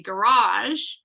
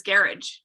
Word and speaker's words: garage: for him so um if i say garage that can rhyme with mirage but he says garage yeah and that doesn't rhyme with morocco right so it's understanding